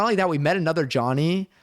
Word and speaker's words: Jony: I I I I mean I say Johnny for my name cuz like I didn't know how to spell as a child. Uh but I but I spell it with one N. So when people say Joanie, I'm like I get it because of one N. That's why you're saying Joanie.